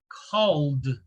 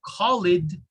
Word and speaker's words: called: sound like do okay listen to the words called notice i didn't say khalid called in in